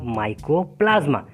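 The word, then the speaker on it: mycoplasma: Micro नहीं, माइकोप्लाज्मा।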